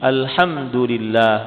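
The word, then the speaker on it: الْحَمْدُ لِلَّهِ: 'ala ad-dhammi fi qawlihi alhamdulillah wa huwa mubtada wa khabar. Ahli qiraat yang 7 semuanya membaca ayat ini dengan memberikan huruf dhammah pada huruf dal. Jadi cara membacanya alhamdulillah.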